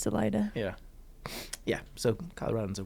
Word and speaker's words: Salida: It's also Salida instead of however you're supposed to say Salida in Spanish.